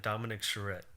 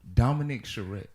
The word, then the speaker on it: Dominick Charrette: last character yeah say that one more time dominic charette dominic charette yeah it's a powerful name it's powerful that's